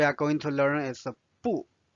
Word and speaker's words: 不: 不 means no or do not, and 不 is the fourth tone. However, you will notice or you may have already noticed that 不 will change its tone in some situations. So one situation is if the next character after 不 is another fourth tone character, it will change to 不 second tone.